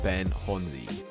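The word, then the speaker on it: Ben Chonzie: time hearing it as well but it is pronounced ben honzi so to start location for this monroe is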